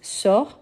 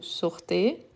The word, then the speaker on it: sort: avec S mais il sort oui avec t il sort il part donc ici je ne prononce pas le S et le T à la fin donc on a la